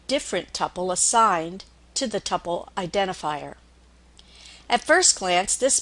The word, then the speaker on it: tuple: will hear this pronounced Tuple and sometimes pronounced Tuple it is one of those tomato tomato type of pronunciations I tend to refer to it as a tupple a tupple is also